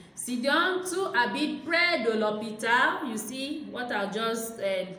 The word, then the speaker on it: l'hôpital: So you see that this L apostrophe, according to this l'église and l'hôpital, comes when it is a vowel, when the noun starts with a vowel or a H and the H is silent.